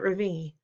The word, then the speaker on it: Ravi: Ravi has his hand up. "Yes, Ravi," says Mrs. Beam. I notice she says his name right for the first time, with the accent on the second syllable.